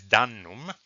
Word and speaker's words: dannum: In the first line uh, we read dannu And and we sort of have to put together the syllables to obtain a word. The word is dannum.